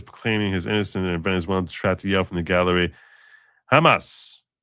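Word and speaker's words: jamás: One of the more bizarre moments occurred when Maduro was proclaiming his innocent and Venezueler, Hamas. Spanish word translates to never, but it's pronounced like Hamas in English. Hamas.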